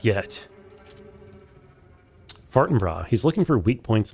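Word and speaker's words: Fortinbras: Okay, it is pronounced Forenbr even though it's Norwegian. His men have been coming to my father's home to retrieve them. For what purpose? Mercy. Please, the water. Not yet. Fartonra, he's looking for weak points in the court.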